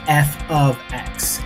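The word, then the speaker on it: f(x): For whatever reason, when people invented math, they decided to have this thing called function notation, which is pronounced or rather said as f of x.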